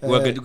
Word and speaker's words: Ouagadougou: Ouagadougou. So she used to tell us to just say the easiest name. Ouagadougou. Ouagadougou, because that's how it's like spelled, but that's not how it's pronounced.